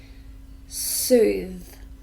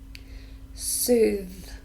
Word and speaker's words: soothe: finally a verb soothe just one syllable listen carefully soothe soothe so this is the voiced sound soothes it means